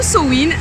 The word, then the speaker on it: Samhain: qu'à quelques jours de sa web ou sa wind ou sowind ça s'écrit sa main mais on le prononce de manière différente en france j'imagine que